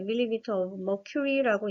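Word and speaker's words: mmHg: 이 압력의 단위는 밀리미터 Hg지만 실제 수은주의 압력을 반영한 거기 때문에 밀리미터 of mercury라고 읽는 게 맞습니다.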